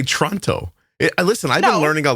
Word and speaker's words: Toronto: I do say Toronto. Like, I don't pronounce the T in Toronto. You're supposed to say Toronto.